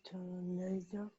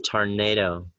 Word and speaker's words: tornado: Is tornado. Yeah, it's tornado. All right, it's tornado. Tornado. I'm sorry, the stress is on the second syllable.